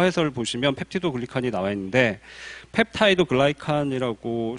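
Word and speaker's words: peptidoglycan: 그래서 우측 아래 용어 해설을 보시면 펩티도글리칸이 나와 있는데 펩타이드 글라이칸이라고 실제로 발음을 하고요.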